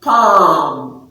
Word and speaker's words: palm: you don't say palm so the l is silent what you hear is